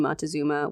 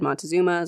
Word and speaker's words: Montezuma: spelled montezuma moctezuma there's a bunch of ways of saying it i've always said montezuma so that's what i'll be saying here feel free to write in and tell me your preferred way of pronouncing his name the first meeting